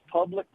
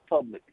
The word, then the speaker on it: Publix: I just wanted to inform Greg that it's pronounced Publix and not public.